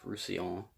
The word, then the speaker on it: Roussillon: And I had to like pay attention every time I read it because I kept trying to read it as Rassilon from Doctor Who.